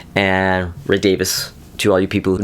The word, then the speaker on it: Davies: Now, this was produced by Ray Davies, and Ray Davis, to all you people who know how to pronounce it properly, but Ray Davies.